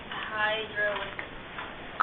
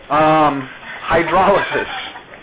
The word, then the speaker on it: hydrolysis: Hydrolysis. Good try. There you go. You put the emphasis on the wrong syllable. Hydrolysis.